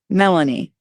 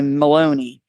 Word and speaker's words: Melanie: Credit to myself, Ryan McFarlane, and Karen Melanie, who I used to pronounce wrong and say Maloney.